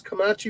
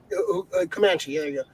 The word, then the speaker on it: Comanche: thunder uh stars as kamachi woman a komachi woman pronounced comanche uh who goes against